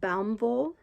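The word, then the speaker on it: Baumwolle: that is it's b-a-u-m-w-o-l-l-e i think it's pronounced baum vol but i don't know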